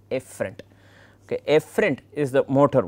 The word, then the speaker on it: efferent: These two, the pronunciation of both are somewhat confusing. One is afferent, the other one is efferent.